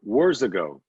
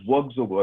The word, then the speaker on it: Workzogo: Words ago. Yeah. And please correct my pronunciation. It is Workzogo actually.